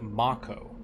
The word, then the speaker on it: Mako: is it like yolo the game pronounces it mako even in french so you know it's